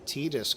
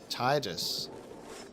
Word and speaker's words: Tidus: I was pronouncing Tidus correctly instead of Tidus.